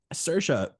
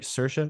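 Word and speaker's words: Saoirse: and emotional roller coaster of a movie yeah sersa kills every single time whatever whatever she's so good and I'm saying it right sersa sersa Ronin yeah sersa yeah she she hides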